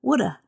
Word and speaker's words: woulda: And sometimes native speakers reduce or shorten the pronunciation even more. So it sounds like this. Shoulda, coulda, woulda.